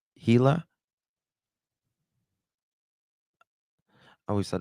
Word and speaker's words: Gila: It's pronounced Gila. I always thought it's pronounced Gilla.